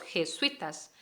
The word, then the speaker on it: jesuita: que bien de los jesuitas jesuita es una palabra que se habla rapidito este suite una única sílaba pero jesuítico jesuítico hablamos de entonces por separado cada una de las vocales sí sé que es